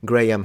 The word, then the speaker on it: Graham: who is uh Graham I finally learned how to pronounce it gram Hancock uh as you